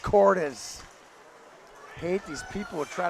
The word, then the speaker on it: Cordes: For the last time, his last name is pronounced Cordes.